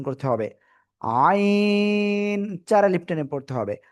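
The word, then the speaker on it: ع: এই গলার মাঝখান থেকে আপনার উচ্চারণ করতে হবে। আইন চার আলিফ টেনে পড়তে হবে।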